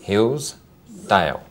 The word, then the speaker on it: Hillsdale: And Hillsdale? 2 syllables. Hillsdale. What about Kensington?